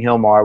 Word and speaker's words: Gilmar: people understand this too I'm saying Hilmar which is the correct pronunciation of your name but when they go